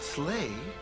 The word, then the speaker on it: sleigh: And the word sleigh rhymes with play.